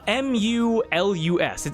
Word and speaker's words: Mulus: How do you spell that? M-U-L-U-S.